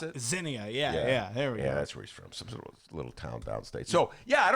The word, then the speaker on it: Xenia: Is that how you pronounce it? Xenia, yeah.